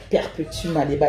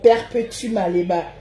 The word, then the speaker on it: Perpétue Maléba: Il faut bien prononcer mon nom. Perpétue Maléba. Avec l'accent même.